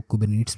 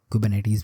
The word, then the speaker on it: Kubernetes: बात बताना चाहूँ कि हम कुबरनेट्स को कुबरनेट्स भी पढ़ते हैं और कुबरनेटीज़ भी पढ़ते हैं, तो जो आपको इजी लगे आप उसको प्रोनाउंसिएट कर सकते हैं। ऐसा कोई रिस्ट्रिक्शन नहीं है इसके ऊपर।